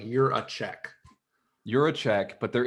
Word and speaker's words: Jiracek: sense say your last name one more time you're a check like you're a check you're a check all